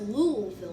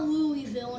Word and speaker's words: Louisville: frankfurt but the largest city is louisvilleville it's pronounced louisville not louisville not lewisville and that is kentucky they have some other